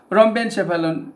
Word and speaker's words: rhombencephalon: in brain protein chapalon this is pronunciation it is mesencephalon and it is rhombencephalon three vesicles for brain